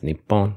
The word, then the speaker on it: 日本: type of thing yeah in 1934 the Ministry of Education decided to standardize the pronunciation as npon but this decision was